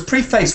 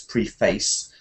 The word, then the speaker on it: preface: Well, I think when it's a noun, you say preface. Preface. The preface, yes, because preface would sound like some kind of verb. Verb. You know, that's a normal pattern, but I don't know a verb that's preface. And there are facey verbs, but it sounds a bit like a verb. So when it's a noun, they say preface.